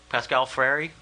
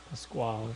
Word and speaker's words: Pasquale: Pascal Freire? Pasquale. Is it Pasquale or Pascal? Pasquale, yeah. I think he's just phenomenal.